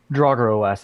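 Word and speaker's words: Drauger OS: trogir OS is that how you say it Drago OS it's pronounced the same way that you would pronounce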